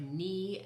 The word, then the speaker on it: knee: The K is silent when almost every time when it's followed by an N, or maybe every time it is. So like knee and night and, I can't think of another example right now.